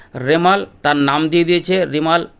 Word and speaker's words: রেমাল: তার নাম দিয়ে দিয়েছে রেমাল উচ্চারণ হবে আর ই এবং এম এল ঋ মাল এই হিসাব উচ্চারণ করতে হবে উত্তর বঙ্গোপসাগরে এটার অবস্থান